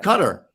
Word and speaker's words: Qatar: in in uh yeah cutter cutter is is is is the people in there pronounce it uh uh gorgeous Maldives